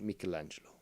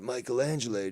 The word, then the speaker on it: Michelangelo: and yes it's pronounced michelangelo not michelangelo dude that's michelangelo if you speak the italian and not the american italian like costanza speaks you got a costanza